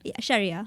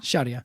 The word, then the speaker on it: Sharia: sense it's sure Sharia large how do you pronounce it again Sherea Sherea yeah and then what was the other thing